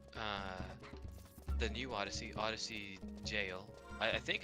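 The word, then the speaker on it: Gaol: you pronounce it yeah it's jail he was saying it g or something I can't remember he said it wrong anyway I was like I'm pretty sure that's not how you say it anyway um he said that when you ENT yeah so long story short it's the old word for jail um Old English word so that that's where it comes from yeah I learned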